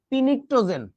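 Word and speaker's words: pnictogen: কারণটা হইতেছে, নিকটোজেনের ইংরেজি বানানটা দেখো, NICTOGEN, এটা মনে করবা নিকটোজেনের বানান না, এর নামের সামনে একটা পি আছে, এইটা দেখা তুমি উচ্চারণ করবা কি জানো? পিনিকটোজেন।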